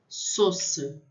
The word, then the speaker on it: sauce: A U tem som de O. Sauce, sauce. A Y ou A Y fica E.